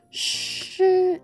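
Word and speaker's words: 师: this is shooting how to pronounce the name in Chinese Mandarin sure is kinda like when you say the word should should but don't say the uh part just shh not she or she is she she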